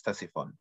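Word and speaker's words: Ctesiphon: an S right uh the C is silent I don't know why there's a c in English it's Tessy fun oh okay it it's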